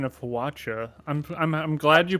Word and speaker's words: Hwacha: Wonderful pronunciation of Hwacha. I'm glad you pronounced it right. I prefer to say Hwacha like a whip cracking, but that's just me.